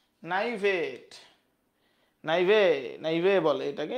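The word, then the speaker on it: naïve: ক্ষেত্রে আমরা মিউনিফিসেন্ট বলবো নাইভেট নাইভেট নাইভে নাইভে বলে এটাকে এটা হচ্ছে ফ্রেঞ্চ উচ্চারণ হবে নাইভে ল্যাকিং অর ওয়ার্ল্ডলি এক্সপিরিয়েন্স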